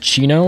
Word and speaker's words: Chino: um by fur and i think his name is pronounced chino it's like c-h-i-n-o and